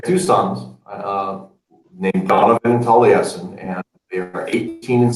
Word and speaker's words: Taliesin: It's like is that's spelled like that? Talisen. What was that? Taliesin. That's how you say it. Yeah, Taliesin.